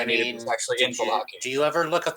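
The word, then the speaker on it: Vallaki: Valaki.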